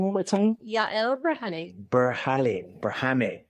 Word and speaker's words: Yael Berhane: Yael Berhane. Berhane.